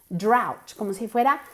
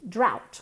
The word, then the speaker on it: drought: o u g HT okay but we we pronounce it drought d r a u t drought okay fertilizante fertilizer fertilizer very good contamination pollution